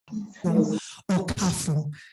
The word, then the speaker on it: Okauru: I also would like to correct the pronunciation of the representative of the Enugu State Investment Development Authority. His name is actually Okauru.